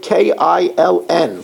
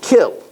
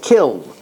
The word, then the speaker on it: kiln: And uh you know, I always pronounced it kiln and I was told on Shabbos by two people who are in the know that it's pronounced kill.